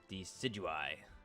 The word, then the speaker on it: Decidueye: How do you say this Pokemon's name? Decidueye. There you go. That's how you say it.